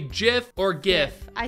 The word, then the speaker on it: GIF: get the question yeah so it is it's pronounced Jif or gif and we said it's pronounced gif which it is it's not jiff no get a clue yes okay yeah I